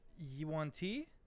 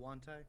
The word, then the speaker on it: yuan-ti: Yuan-Ti?